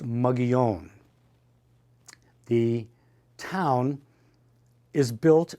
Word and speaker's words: Mogollon: The problem with Mogollon, and it incidentally is named for a Spanish governor from the 1700s and pronounced Mogollon.